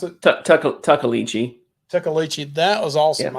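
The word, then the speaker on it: Tuckaleechee: The Tikalichi. How do you pronounce it? Tuckalichi.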